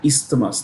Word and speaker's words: isthmus: Now let's look at this word isthmus. What's an isthmus? The S is pronounced. It's not like island.